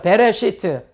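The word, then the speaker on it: בְּרֵאשִׁית: 자, 알렙이나 아인이라고 하는 그 문자는 모음이 없으면 그냥 묵음이 되는 거예요. 그래서 배, 레 하고 요건 묵음이고요. 그 다음에 쉬. 요건 장모음이죠. 시트. 한번 해보죠. 베레시트.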